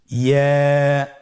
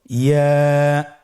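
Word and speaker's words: ياء: ইয়া হরফটি উচ্চারণের ক্ষেত্রে বারিক হবে এবং 1 আলিফ টেনে পড়তে হবে। ইয়া। আবার বলুন ইয়া।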